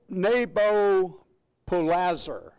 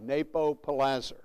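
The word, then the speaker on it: Nabopolassar: His father was a man by the name of Neb- Nebo- polassar. I'll spell that for you if you really want it.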